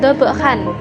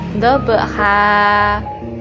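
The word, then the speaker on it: ضبحا: berhenti pada akhir kalimat maka cara membacanya yaitu di panjang satu Alif atau dua harokat yaitu walau dia tidur bekas bukan double Khan tetapi double Heart Selain itu dalam Alquran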